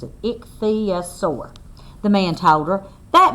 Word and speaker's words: ichthyosaur: love the way that tells us how to pronounce it ichthyosaur the man told her that means fish lizard